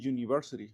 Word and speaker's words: university: Esto suena como y y de hecho es suena como una y de del español, una y y que el símbolo fanático sería una j. Entonces este el sonido, chicos, vendría siendo un sonido de de consonante.